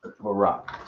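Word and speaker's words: Barak: Barack spell it.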